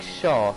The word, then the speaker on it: S-Shark: You can pronounce S-Shark like shark and it will be correct.